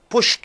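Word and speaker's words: pushed: ஈடி சேர்த்திக்கிறீர்கள், எஸ்ஹெச்சில் முடியக்கூடிய அந்த சத்தமிடாத இந்த வினைச்சொல் கூட ஈடி சேர்த்து கொள்ளும் பொழுது புஷ்ட் என்று வருகிறது, ஒரே பீட்டிங்.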